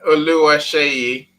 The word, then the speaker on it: Oluwaseyi: And we always say Olu, but if we pronounce the entire name, how would you pronounce it, Annie? Oluwaseyi.